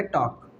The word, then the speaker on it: talk: तो क्या हो जाएगा यहाँ पे, टॉक। क्या हो जाएगा, टॉक। यानी कि के का उच्चारण करेंगे टी के साथ मिला के, एल हमारा साइलेंट हो जाएगा।